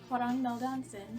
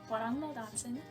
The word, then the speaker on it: hwrngmelldansen: the same username I use on Twitter is pronounced hon M Johnson some people kind of don't know how to pronounce it which is okay it doesn't quite have that many vowels um it is hang malonson and um it is a portm of hang